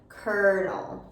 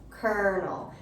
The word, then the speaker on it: colonel: make an er sound kernel kernel and it's actually pronounced the same way as a popcorn kernel so the popcorn kernels